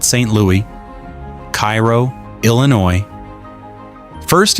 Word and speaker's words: Cairo: Louis, Cairo, Illinois. First, it's pronounced Kay-row, not like Egypt, like Kay-row.